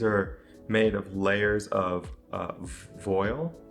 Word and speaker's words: voile: made of layers of voile. It's a French term, voile? That's correct. I looked up the pronunciation, voile.